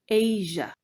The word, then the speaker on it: Asia: Ensuite, Asia se prononce non seulement avec long A et non pas comme Asie en français, mais en plus, le son J vient remplacer le son Z. Asia.